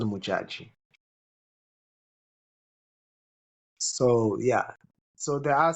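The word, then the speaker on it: Modjadji: Did you say her name was Mujag? Mujag. Mujaji. Muj- MOD. Yeah, Mujaji. Mujaji.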